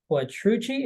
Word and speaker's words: Quattrucci: Everyone, this is Quattrucci.